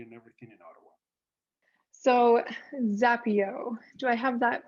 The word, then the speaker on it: Zappyo: all the blending and everything in ottawa so zapio do i have that pronounced right you do i love it it's